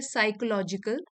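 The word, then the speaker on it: psychological: Next word है साइकोलॉजिकल। P silent है यहां पे।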